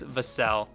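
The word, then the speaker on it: Vassell: of devon vasel saying how to say his last name and it is vasel and then let's go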